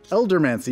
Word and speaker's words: Eldermancy: Eldermancy.